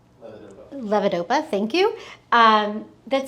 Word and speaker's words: levodopa: Um there are medications like I'm going to mispronounce this, levat? Levodopa.